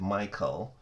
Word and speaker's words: Michal: Verse 20, And Michal, and some people pronounce it Michal, Saul's daughter, loved David, and they told Saul, and the thing pleased him.